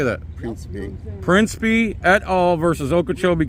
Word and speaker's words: Principe: Principe.